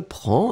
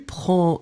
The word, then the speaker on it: prends: So, je prends, and remember, DS, Tu prends des S, il, elle prend des. We pronounce them exactly the same way, but still, keep in mind that we should definitely write them like that.